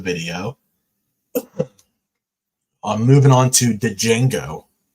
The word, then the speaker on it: Django: I'm moving on to Django I know it's pronounced Jango I have the movie